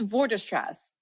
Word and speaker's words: Vorderstrasse: how do you say your last name it's for distress okay yes yeah I said it right earlier